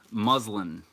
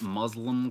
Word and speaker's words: muslin: directly on your subject muslin it is not Muslim cloth despite what black cat white face may think it is Muslim it's M it's spelled the same as Muslim but within in and it's really it's